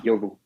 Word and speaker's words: Iovu: It's I as in India, Ovu, and a lot of people spell it, or they misspell it for I for L. So, but it's Iovu. Okay, very Iovu.